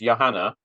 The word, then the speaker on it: Johanna: is spelled exactly the same as yours it's Yanna is that the correct pronunciation yes okay great but I like to